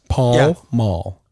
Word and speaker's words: Pall Mall: Is it pronounced Paul Mall? Paul Mall. Yeah.